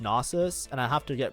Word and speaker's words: Nasus: have nus 2 oh sorry NES is pronounced nasus and I have to